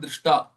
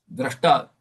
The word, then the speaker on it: Drashta: You said not Drishta. Drashta. Drish is a Dhatu. Drashta, you will have Dra.